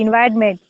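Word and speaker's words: environment: एम इ एन टी एनवायरमेंट। ये हमारे पास spelling होते हैं। क्योंकि जब हम प्रोनाउंसिएशन करते हैं ना तो वो हमारे पास जो ओ होता है वो स्किप सा हो जाता है।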